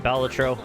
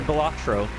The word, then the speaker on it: Balatro: Is that the first win for Balatro? Or Balatro? Apparently I've been saying it wrong.